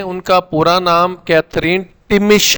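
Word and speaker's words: Thimmesh: अब टिमिश में TH भी आया है। अब अगर TH आए तो फिर ये थी थे था पढ़ा जाना चाहिए, लेकिन ऐसा नहीं है, यहाँ पे H साइलेंट है।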